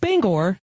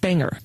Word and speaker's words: Bangor: And yes, it is pronounced Bangor and not Bangor. Which I totally would have called it Banger.